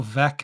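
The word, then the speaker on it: Veeck: and it's like he read read it like it's spelled I'm not even from Chicago I don't not a white sock fan but I know it's Bill veck as in wreck because he [ __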